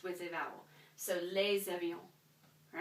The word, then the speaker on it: les avions: So this is going to be les avions. Okay? So, l'avion, singular. Les avions, plural. And why did I actually pronounce this as a Z right here? Because of that liaison that we talked about.